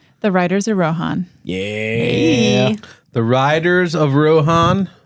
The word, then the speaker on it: Rohan: So when I read this I said, "Oh, I know how to say this. Rohan." Like Lindsay Lohan. Oh, Lohan. I love it. It's not that way. That's the the rude way to say it. It's Rohan. Well, thank you so much